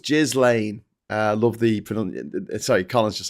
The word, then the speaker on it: Ghislaine: It's pronounced Ghislaine.